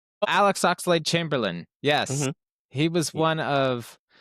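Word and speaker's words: Oxlade-Chamberlain: Good for And you might have to help me with the pronunc pronunciation of this last name. Alex Oxalady Chamberlain. Alex Oxel Chamberlain.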